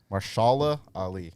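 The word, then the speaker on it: Mahershala Ali: Marshala Ali. That's how you pronounce his name.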